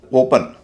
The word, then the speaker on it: open: इसी तरह OPEN, ओपन, इसमें भी शुरुआत का वावल है ओ, उसका उच्चारण ठीक वही होगा जो होना चाहिए। लेकिन PEN में जो ई है वो दूसरे हिस्से में है, और मैंने कहा था कि ई जब दूसरे हिस्से में होता है तो आमतौर पर उसका उच्चारण अ होता है।